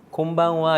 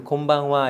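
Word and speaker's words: こんばんは: 느낌 곤 방어와 인데 이것도 이은 이라고 하는 발음은 어떤 때는 니은 어떤 때는 동그라미 어떤 때 미움으로 나요 차차 알게 될 텐데 여기서는 뒤에 파악 아 왔을 때는 미움으로 발음 하게 되요 그래서 곰방 와 이렇게 됩니다 같이 한번 얘기해 볼게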